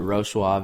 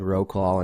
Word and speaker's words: Wrocław: You call it Wrocław. It looks like Wrocław in English.